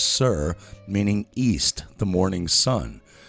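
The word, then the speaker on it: soir: Osiris is an Irish compound word from Os, meaning high, and S O I R, pronounced sir, meaning east, the morning sun.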